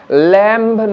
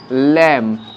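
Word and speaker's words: lamb: ঠিক সেরকম ল্যাম্ব নয়, হবে ল্যাম্ব। তাহলে যে যে ওয়ার্ডে বি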